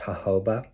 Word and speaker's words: jojoba: It's pronounced jojoba.